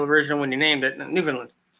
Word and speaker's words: Newfoundland: I'm not sure yeah it's new found land because you guys are real original when you named it Newfoundland not New Finland Newfoundland